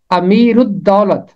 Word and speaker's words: امیر الدولت: 3 آیت میں لفظ آتا ہے امیر الدولت، امیر الدولت، رے ملے گا جا کے دال کے ساتھ، کیونکہ الف لام کے بعد دال حرف شمسی ہے اور پہلا حصہ ہے امیر، رے ملے گا دال کے ساتھ، امیر الدولت۔ اس کا مطلب ہے